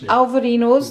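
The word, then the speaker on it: Albariño: Alvarinos. The B is pronounced a V.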